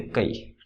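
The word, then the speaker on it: χ: क्या होता है इसका नाम, ये होता है CHI, प्रोनाउंसिएशन होता है इसका के, कई बोलते कई, ठीक है, जिसे कई लोग बोलते हैं ना, कई लोग में जो कई होता है ना वो होता है CHI, ठीक है, ग्रीक लेटर है कई।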